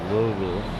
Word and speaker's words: Louisville: I was told by someone who lived in Louisville, you say it like you have a mouthful of marbles. So Louisville.